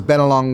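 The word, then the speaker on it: Bennelong: it right better long don't say log because been along will his Spirit might come and stir you up tonight and say my name's been along not better along um so in a separate take you will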